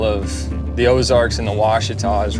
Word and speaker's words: Ouachita: We're going down to the Ouachita River to go chase some smallies with fly rods. Well, at least you know how to say it. True. Most call it Wakita.